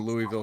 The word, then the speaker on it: Louisville: I never went to the Louisville Slugger factory when I was there. I should have. I didn't do anything when I was there because it's fucking Louisville, Kentucky, and it sucks.